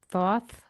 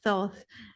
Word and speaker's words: Thoth: Is this, and I might pronounce it wrong, Thoth? Thoth? Thoth, Thoth.